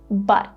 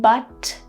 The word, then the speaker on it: but: To replicate what I'm doing here, you just need to hold your tongue and try to make sure that no air comes out when you say but. Instead of saying but, see, the air comes out, we just say but.